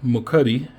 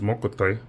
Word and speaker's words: Mokuti: So this is Mokuti, which is, I say it wrong, but I like the way I say it versus the proper way to say it, which is Mokuti.